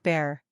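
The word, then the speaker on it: Bhaer: Now don't laugh at his horrid name, it isn't pronounced either bear or beer, as people will say it, but something between the two, as only Germans can give it.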